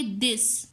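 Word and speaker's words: this: पता चल जाएगा कि अब इसको हमने थे के लिहाज से नहीं पढ़ना है, दाल के लिहाज से पढ़ना है, जैसे कि दिस। अब ये साइन अगर हमारे माइंड में होगा तो प्रोनाउंसिएशन में आसानी होगी, नहीं तो हम इसको थिस पढ़ेंगे और इसको दिन पढ़ेंगे, हमारे लिए मसला हो जाएगा।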